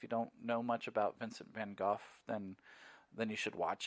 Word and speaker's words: Vincent van Gogh: team of 100 painters they're all using the van Gogh techniques or if you're an American usually you know miss van gogh vincent van gogh but Vincent van Gogh is how you actually